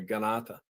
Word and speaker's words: Kanata: Ganata. K is a pronounce.